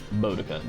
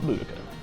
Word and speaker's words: Boudicca: We've been saying it wrong for years. Boudica, not Boudica.